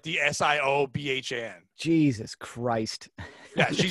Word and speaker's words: Siobhan: Siobhan. Siobhan, but like the Siobhan.